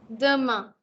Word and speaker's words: demain: demain. Demain. Also, please don't mispronounce this as E. It's a. It's a. Okay.